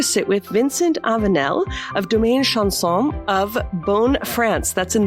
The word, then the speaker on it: Domaine Chanson: And Vincent, welcome and tell us about Domaine Chanson. First of all, I would like to say excellent pronunciation. Oh, thank you. Domaine Chanson, indeed.